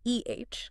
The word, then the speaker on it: Eh: And while he was there, he came across a language called eh, spelled eh. Eh, like the Canadian stereotype, apparently pronounced with a bit of that Canadian flection.